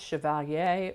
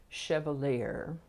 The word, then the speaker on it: chevalier: It can be pronounced chevalier or chevalier.